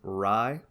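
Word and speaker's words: Rhye: there's a guy named ry like the like the bread but it's spelled r-h-y-u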